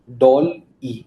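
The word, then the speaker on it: DALL-E: Doll E.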